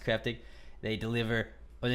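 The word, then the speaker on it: Kraftig: cryptic light it is spelled KR aft IG pronounced cryptic they deliver whether it's like only the finest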